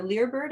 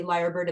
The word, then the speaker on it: lyre bird: uh the lyre bird our lear bird i think the layer bird is actually the correct pronunciation it's a l-y-r-e b-i-r-d i've been lucky enough to see liar bird in the wild as